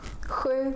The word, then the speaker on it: sju: In all these words, we can see the SJ combination, and that's why it's pronounced like sju, sjö, sjal.